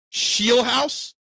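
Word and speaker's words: Scheelhaase: I think it's Sheil House um is how I Googled it to pronounce it.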